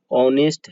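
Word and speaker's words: honest: फिर ऐसे ही ऑनेस्ट है, ऑनेस्ट जब आप पढ़ते हैं ऑनेस्ट, तो आप ऐसे पढ़ते हैं ओ, ऐसे पढ़ते हैं ऑनेस्ट।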